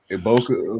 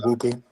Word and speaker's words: Egbuka: mean, Mike Evans goes down, Chris Godwin goes down, Emeka Iboka, I believe I say his name. He goes Emeka down. Egbuka.